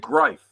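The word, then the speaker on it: Greif: You didn't say grief. You said griefe. That's correct pronunciation. Thank you. I listened to you last time. Yeah. Grife is German for griffin.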